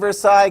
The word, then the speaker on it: Versailles: gosh oh my gosh it starts with a V rhymes with air PSI the Versailles treaty did the Treaty of Versailles get ratified by the